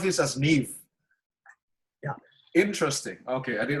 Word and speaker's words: Neve: Just Neve, N-E-E-V, without the E on the end. So you pronounce this as Neve.